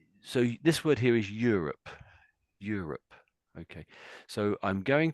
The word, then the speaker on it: Europe: So, I'm I'm saying Europe. Europe. So, Europe. Yeah. Yeah, that sounded better actually. So, this the first little bit is sort of like you almost in a sense you or me, but it's you.